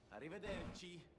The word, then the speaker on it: Arrivederci: Is that when Italian people say it, it almost sounds like there's an L. Because of the way that it's pronounced. Oh, yeah. So I always accidentally, like when I was younger, would put an L in there instead of rolling the like D and R together.